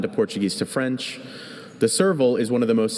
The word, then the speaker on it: serval: Servil Serval. Could you repeat both pronunciations? Serville.